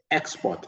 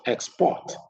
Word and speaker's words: export: If a word is both a verb and a noun, the noun stresses the first syllable, whereas the verb is stressed on the second syllable.